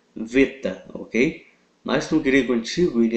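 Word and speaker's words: βήτα: Beta mas uma pronuncia Beta ele ele através doos tempos ele ganhou no no grego moderno o som de v Ok então a pronúncia no no grego moderno é veta Ok mas grego antigo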